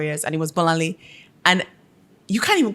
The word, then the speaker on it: Bolanle: when I'm in America, I'm never going to introduce myself as Bola. It is Bolanle. You're going to say it. Figure it out. Yeah. I now write it phonetically for them. Then I'll say, do you have a nickname? No, babes. No. Don't have one. It's Bolanle. If I can pronounce your name, Rachel, you can pronounce my name, Bolanle.